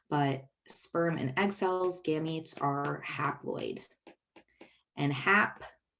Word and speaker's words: gametes: Gams, like they called legs in the old-timey 20s, old-timey videos, gams, eats, like food, right?